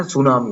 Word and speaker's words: tsunami: නමුත් අපි හරිනම් එක sound කරන්න ඕනේ, pronounce කරන්න ඕනේ pizza කියලා T අකුරත් එක්ක. අර tsunami වගේ.